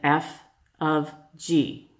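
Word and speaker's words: f∘g: little symbol here and I know it we really want to pronounce that fog it is not it is said F of G so that little means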